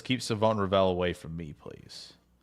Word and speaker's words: Siobhan: I'm just saying East Carolina's website says Savone. Savone. Yeah, 100%. You got to read the whole comment out loud for the audio only crowd. Adam Huddle says, "Keep Savone Rell away from me, please."